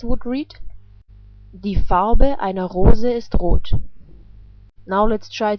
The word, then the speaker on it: Rose: The color of a rose is red. The word for rose is the same in German, but it's just pronounced differently. In German we pronounce it like Rose, and Rose is a female noun in German.